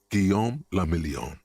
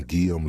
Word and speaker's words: Guillaume: meant only one thing guillaume if it doesn't rhyme you're not pronouncing it right out of the dazzling